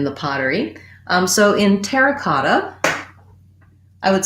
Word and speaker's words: terra cotta: pottery um so in terra cotta i would say as a phrase overall our main stress is going to be on the cot terra cotta terracotta within the word terra